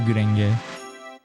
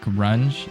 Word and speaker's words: Gurenge: What about Gurenge? Oh, you're saying it's like... You're trying to make it like grunge? It's not pronounced the same. It's a hard G, not a soft G.